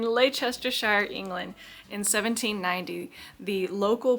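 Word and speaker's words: Leicestershire: uh Lake Chester Shire Lake Chester Shire England strength I swear to God there's 150,000 ways to mispronounce that and you missed every one of them you missed every one of them so in Lester Shire England in 1790 the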